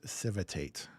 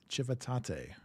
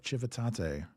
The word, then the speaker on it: Civitate: as an American my mind says this as civitate of course but apparently the Italian say too right surely apparently the Italians are strange and the correct pronunciation is chivate so the Battle of chivate chivate yeah so all right so 1053 we're